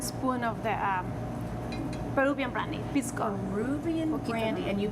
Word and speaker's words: pisco: Just 1 spoon of the Peruvian brandy, pisco. Peruvian brandy. And you pronounced it, what is it?